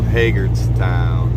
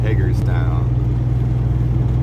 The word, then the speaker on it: Hagerstown: a ask somebody from around here okay so hagert's town hagerstown all right we got more flags on the